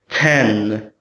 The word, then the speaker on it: ten: It's pronounced with the aspirated T sound. T 10.